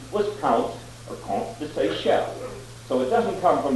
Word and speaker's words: Seychelles: named the count to say shell. Then later the British uh changed the islands just to the British spelling and pronunciation of the Sey Shell Islands.